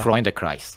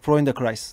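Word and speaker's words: Freundeskreis: Böyle okunuyordur. Freund Kreis'e mi? Evet. Freundkreis'e. Freunde Kreis. Freunde Kreis.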